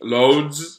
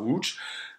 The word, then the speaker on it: Łódź: Even when I was going to Łódź, if you guys don't know, L-O-D-E, Lodz. This is how you say it in Polish, so Łódź.